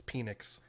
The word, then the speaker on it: Penix: When You're was pronouncing this it wrong. posted? It's Penix.